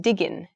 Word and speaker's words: digging: in fashion so um we don't really pronounce the word digging in the Progressive we often will make it sound kind of cool by saying she's digging digging so that kind of like sort of cool way of speaking is used